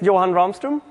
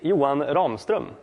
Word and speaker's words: Johan Ramstrom: make it a yay my name is johan ramstrom or as you pronounce it in swedish you won romstrom it's a bit weird